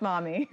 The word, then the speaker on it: MoME: Or mommy. Or mommy. Mommy yes, models. Pronounced mommy.